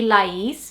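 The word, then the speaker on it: Laís: It definitely wouldn't be Lais, which is the way that we say it, especially because we have the accent on the I, so the inflection is on the second part.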